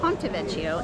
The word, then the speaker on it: Ponte Vecchio: I believe I mispronounced the bridge. It's the Ponte Vecchio, and back in the